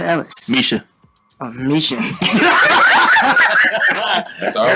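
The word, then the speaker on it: Mica: This next song is called Fighter by Mika Ellis. Misha. Oh, Misha. That's all right, man. That's all right. I'm sorry. It's spelled M-I-C-A. I know. It's Misha, though.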